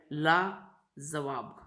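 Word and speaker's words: लाज़वाब: लाजवाब, नीचे नुक्ता लगा है, लाजवाब।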